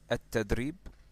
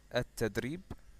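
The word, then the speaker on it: التدريب: So this word, okay, at-tadrib, okay, this word, which is pronounced like that, at-tadrib, means the training.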